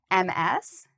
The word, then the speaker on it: Ms.: Before I answer this, I just also wanted to point out the pronunciation of MS. It actually has a Z sound at the end, so you'll hear me say Ms.